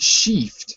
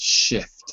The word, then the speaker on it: shift: word yeah that's it not shift but shift like six shift cuz otherwise otherwise they might think you're saying something like sheet like the sheet on your bed if you're saying it